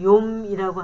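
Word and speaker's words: יום: 히브리어는 히브리 말로는 욤이라고 하는데 굉장히 멋있죠? 꼭 붓글씨 쓴 것 같아요. 욤이라고 읽고요.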